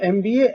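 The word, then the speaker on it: MBA: बट एन यहाँ पे देख सकते हैं, एमबीए एम रिटन फॉर्म में है, बट साउंड एक्चुअली क्या है? एम, एन। So note that एमबीए starts with a consonant, but the first sound is a, or a short a sound.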